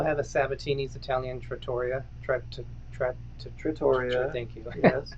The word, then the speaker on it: Trattoria: Trattoria.